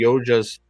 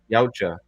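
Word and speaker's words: Yautja: that the predators the yojas is it yoja god I'm never gonna pronounce it right yaucha the yaucha's fucking father made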